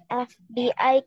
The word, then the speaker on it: FBI: An FBI case. F is pronounced F here.